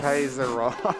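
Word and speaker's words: Kiezeroff: Looks like the winner for the Squirtle naming incentive is Kizaroff. I mean Kaizarin or Kaizaroff. Kaizaroff.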